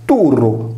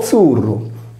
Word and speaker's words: Turru: In realtà, osservando una corretta pronuncia con la doppia R senza la desinenza S del nominativo, perché il sardo non possiede i casi del greco e del latino, il termine si legge turru o zurru.